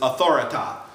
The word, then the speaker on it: Authoritah: One of his famous sayings in South Park is, "Respect my authority," which he pronounces Authoritah.